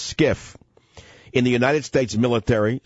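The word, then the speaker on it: SCIF: show what is skiff sensitive compartmented information facility pronounced skiff in the United States military security and intelligence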